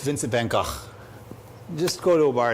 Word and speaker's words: Vincent van Gogh: If you want to get beat up in a bar, say his name correctly. It's Vincent van Gogh.